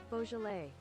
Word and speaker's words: Beaujolais: chat how to pronounce Beaujolais Beaujolais it was right I was right it was bow Beaujolais Beaujolais Beaujolais Beaujolais